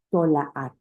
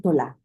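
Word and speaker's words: תולעת: Fíjense que la palabra gusano en hebreo se escribe tolaat. Tolaat. Pero en breve le dicen tolá.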